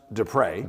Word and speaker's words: DePrez: have you here so so it is it's pronounced depre depre is correct but it's d p r e